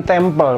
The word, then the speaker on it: temple: Ini bukan temple bacanya, ini adalah M itu berbunyi ong, seperti halnya an, ong ya, maka ini nggak ada aksonnya.